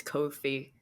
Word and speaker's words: Ko-fi: It rhymes with no fee, so it's Ko-fi.